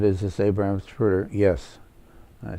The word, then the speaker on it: Zapruder: She said, it was pronounced to me, but I don't know how you spell it. And he said, it's Abraham, and the last name is Zapruder.